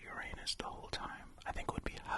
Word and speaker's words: Uranus: that I'm going to pronounce it Uranus and not Uranus because I'd hate for this planet to be the butt of so many jokes and plus I think